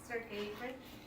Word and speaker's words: Sergeyevich: And his middle name is pronounced Sergeyevich, and Sergeyevich Pushkin.